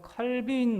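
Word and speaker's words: Calvin: 근데 이제 장로교는 그 중에서도 마르틴 루터의 전통을 따르지 않고 우리는 존 칼빈, 요즘은 깔뱅이라고 발음을 하던데 이 존 칼빈 목사님의 전통을 따라서 우리는 예배를 드리는 거예요.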